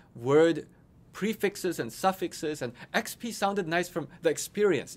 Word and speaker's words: Expii: EXPII is pronounced XP. It's experience points in many people's video games.